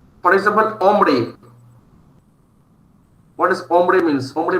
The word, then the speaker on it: hombre: a word starts with H, it is generally most of the time silent, but individually H is pronounced as Ache. For example, hombre.